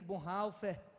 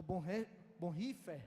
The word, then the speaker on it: Bonhoeffer: Dietrich Bonhoeffer, ou Bonhoeffer, alguns pronunciam assim, um teólogo alemão, executado a mando de Hitler, aos 39 anos, em abril de 1944, se não estou enganado.